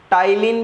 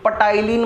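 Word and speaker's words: ptyalin: है salivary amylase, जिसको टाइलिन भी बोला जाता है, कोई पटाइलिन मत बोल देना भाई, टाइलिन है, पी साइलेंट है।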